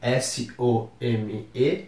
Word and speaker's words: some: usamos a palavra palavra some escreve s o m e mas nós falamos some como se nós tivemos pronunciando novamente aquele a nasalado e o e não aparece tanto então fica com o m mais proeminente some e a gente vai